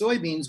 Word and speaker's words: Lyz: person well i called you now it's liz and it's spelled elbow which made it hard for